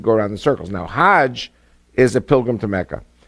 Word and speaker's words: Hajj: around the circles now Hajj is a pilgrim to Mecca Haag is the Egyptian pronunciation hag in Hebrew means